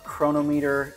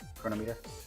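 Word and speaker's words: Cronometer: Chronometer. Uh and then uh a chronometer maybe is maybe the the better one. Better way to pronounce it.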